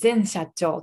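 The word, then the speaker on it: 前社長: 前社長とかえって前社長と読みますそしてその前の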